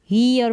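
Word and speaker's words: year: तो वाई है, इसको ई नहीं पढ़ेंगे, य इसका उच्चारण होगा, ईयर पढ़ा जाएगा, य करके इस तरीके से य का ये बनाना है आपको।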